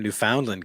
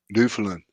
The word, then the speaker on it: Newfoundland: Howie says, watching from Newfoundland, Canada. Newfoundland Yes. or Newfoundland. Accent on the wrong syllable.